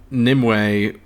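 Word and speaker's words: Nimue: now hell-bent on stopping nimway without triggering the end of the world so nimwei is spelled n-i-m-u-e but uh you know it's nim way and in english that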